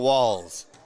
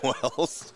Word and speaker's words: Walls: It's spelled Marshall Wells. Yes. In the roster given to us. We then corrected it. Then the next game, TJ started calling him Wells.